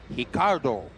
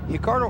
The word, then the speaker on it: Ricardo: He is Ricardo Arona, and it's actually spelled Ricardo, but the Brazilians pronounce that R with an H sound.